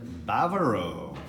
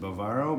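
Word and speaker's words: Bávaro: are at Barrow star Grand Bavaro I would have pronounced it Bavaro but that would be wrong we just found out we're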